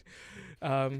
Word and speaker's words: Aoibhinn: Now, how do you pronounce Aoibhinn? You're not gonna get it right. Avine. Using Gaelic for and- evil.